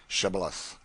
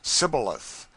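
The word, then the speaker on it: Shibboleth: let none pass who could not say Shibilith. The Ephraimites being of a different tribe could not frame to pronounce the word right, but called it cibilith, which proved them enemies and cost them their lives.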